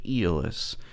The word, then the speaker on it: Aeolus: Metal571 here, and this is the ZMF Aeolus. I've heard people pronounce it lots of different ways, but from a little bit of Googling, that's apparently the actual pronunciation.